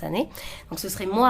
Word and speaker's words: Anneet: à Paris mais avec mon nom de famille en fait en année parce que ça se prononce année donc ce serait moi